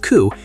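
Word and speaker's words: 九: Furthermore, in certain Asian markets, specifically Japan, the number 9 is considered unlucky because its pronunciation, ku, sounds identical to the word for suffering or agony.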